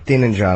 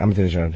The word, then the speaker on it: Ahmadinejad: The Iranian president there that most people can't pronounce his name. Ahmadinejad, I think. Ahmadinejad.